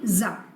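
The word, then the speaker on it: Tsar: सप्रे बाय तो सी T over here is silent so you have to से जार तो ये जो जार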